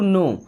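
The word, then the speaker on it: know: टू नो। अब इस नो word में के और डब्ल्यू दोनों साइलेंट होते हैं। ओके? इसे केवल नो पढ़ते हैं।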